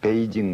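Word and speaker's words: 北京: 하는 것입니다 예를 들어서 우리가 중국의 수도 북경 우리는 그러지 않습니까 근데 중국 사람들이 북경 안 하잖아요 베이징 그러잖아요 예를 들어서 중국을 우리가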